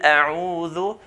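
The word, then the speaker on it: أَعُوذُ: So, a'u, we should open our lips forward when we pronounce the ayn with the dhamma. A'u, a'u, qul a'u, qul a'udhu.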